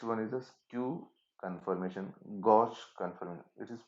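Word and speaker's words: gauche: stagger and next one is a skew confirmation gosh confirmation it is pronounced as a gosh spelling is g a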